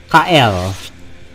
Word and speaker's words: Kael: Yeah, his name is gonna be Kael. Kyle? Kael. Kael. Kael.